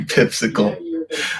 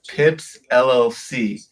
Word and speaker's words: Pips LLC: I genuinely thought that's how you pronounced your name on whatever it's called on the thing, but I'm an idiot. It's Pips LLC. It's not Pipsicle.